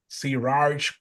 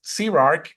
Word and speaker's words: CRARC: People have problems pronouncing it. They think Siraj, Kiraj, how do you pronounce it? It's Sirark, and it's a combination